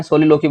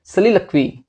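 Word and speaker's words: soliloquy: आपको बताया था कि हम लोग मोस्टली जो हम लोग हैं सोलिलोकी बोलते हैं, बट इसकी एग्जैक्ट प्रोनाउंसिएशन इज सलीलक्वी है इसकी।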